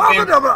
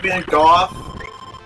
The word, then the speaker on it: Van Gogh: Now, apparently you're supposed to pronounce Vincent Van Gogh's name Vincent Van Gogh.